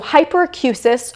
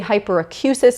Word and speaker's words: hyperacusis: So hyperacusis or hyperacusis. I have heard them pronounced both ways. I was taught to say hyperacusis in graduate school, so that's what I'm going to go with in my videos.